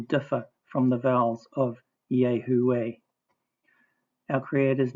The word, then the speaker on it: יהוה: The full form H3068, dagesh forte in the wa, a double wa, therefore 3 syllables, consonant, vowel, consonant, vowel, consonant, consonant, vowel, consonant, kamatz under the yod, kibbutz under the hay, silent shua under the first wa, kamatz under the second wa, pronounced Yahuwah.